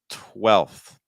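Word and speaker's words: twelfth: our next word here 12th 12th so again you need that l sound L that's your vowel sound it's an e linking with a dark L tip here tip of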